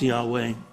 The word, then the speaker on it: Yahweh: For example, the four letters YHWH, which are the words for Yahweh, pronounced Yahweh. The YHWH is from a root meaning to be.